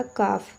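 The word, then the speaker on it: calf: तो देखिए यहाँ पे एल जो है आपका साइलेंट हो जाता है, तो ये आपका हो जाएगा काफ।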